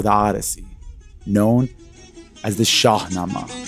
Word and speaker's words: Shahnameh: Odyssey, known as the Shahnameh. Shahnameh, Shahnameh, pronounced varyingly throughout the Persianate world.